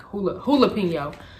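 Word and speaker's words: jalapeño: These subtle spicy chips will make you break out and dance because they're not just jalapeno, they're jalapeno, like hulapeno. They're jalapeno. I was saying it wrong.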